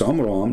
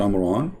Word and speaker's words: Amram: It's Amram, not Amran, but idiot, as what you say, is the father of Moses.